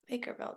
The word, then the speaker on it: Lakerveld: Lakerveld. Are you sure that's how you pronounce his last name with a V or a W? Like is it Veld? It's Dutch like Veld like Lex Veldhuis Veld.